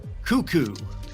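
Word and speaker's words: Koekkoek: This player's name is pronounced Slater Cuckoo.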